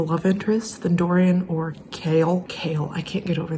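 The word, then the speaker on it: Chaol: so pissed at kale his name is kale by the way not Cole I've been saying it wrong and Dorian like I'm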